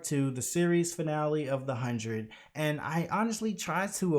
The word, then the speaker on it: The 100: 100 or as i now know it's actually pronounced the hundred so this is part two where i'm going